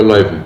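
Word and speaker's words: Löwen: En alemán bajo yo le digo Leuven. Leuven, pero no es Leiven, es Leuven. Leuven en alemán bajo.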